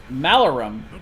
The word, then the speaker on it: Malarum: I knew I was gonna mess it up because he told me how to pronounce it. Malarum. There we go.